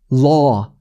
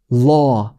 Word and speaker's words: law: 진짜 제일 어려운 발음 중에 하나인데 어떻게 하냐면요. 입 모양은 오. 좀 그리고 언제나 과장이 있어야 돼요. 입 모양은 그냥 오.